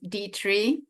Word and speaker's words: Detre: Antonio, Texas, is Detre. Yeah, I pronounce it right? Yeah, you can pronounce it that way, or the Americanized version, which is Detre.